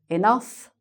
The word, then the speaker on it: enough: Then we have: "enough", "rough", and "tough", with the "uff" sound.